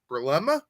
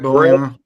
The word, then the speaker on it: Bielema: I like what I saw from I can never pronounce his name correctly. Brulema? The coach. Yeah, the head coach. Brulema? John, what's his last name? Brett Bielema.